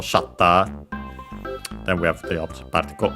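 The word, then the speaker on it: シャッター: The camera shutter accented just like in English on the first syllable shatter.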